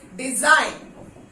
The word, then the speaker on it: design: जी नहीं, डिजाइन, डिजाइन ऐसा नहीं, डिजाइन।